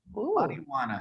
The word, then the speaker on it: marihuana: Marijuana. So the H is silent.